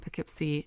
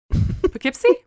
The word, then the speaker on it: Poughkeepsie: Let's see, they've got Kansas City, Missouri, and Poughkeepsie, New York. But they're in like 39 markets now all over the country. They're exploding. Very cool. I'm really impressed that you could pronounce that city. Poughkeepsie?